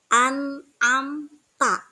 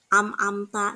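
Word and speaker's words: أنعمت: jelas dibaca Nun sukunnya contoh anamta nah an annya itu kan lunsuk sukun kemudian ke depannya ada huruf Ain Ain adalah salah satu daripada huruf Izhar maka membacanya harus je jelas anamta tidak bisa dibaca anamta amamta itu tidak boleh ya membacanya harus dengan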